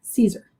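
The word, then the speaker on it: Siser: Caesar.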